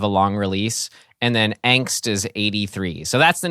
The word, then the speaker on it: Angst: Ryan, boy, it's pronounced Angst. Angst. Sorry. Angst. And what as a German title too, right?